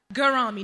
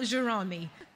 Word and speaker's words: Gerami: She told me how to say her name properly as well. Gerami, not Gerami.